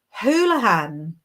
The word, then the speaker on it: Houlihan: Its pronunciation is Houlihan, Inbaal. Now you know. I would never have guessed that. Thank you so much. I was reading it in such an anglicized way.